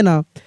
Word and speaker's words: know: जैसे देखिए यहाँ पे KNOW, क्या पढ़ेंगे? नो।